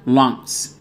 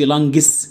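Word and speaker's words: lungs: رئتين يعني لانجز، خد بالك اليو بنطقها اه، يبقى لانجز. خد بالك مش تدوس قوي على الجي، ما تقولش لانجس، مفيش، لان بين الجي والاس مفيش اي، ما تقولش لانج ج جس، لانجز لانجز يعني رئتين.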